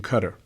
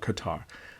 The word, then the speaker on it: Qatar: school in Doha in Qatar some of you call it Qatar I've heard the residents there pronounce it as Qatar so I'm gonna respect the residents pronounce it the way that they do a visit in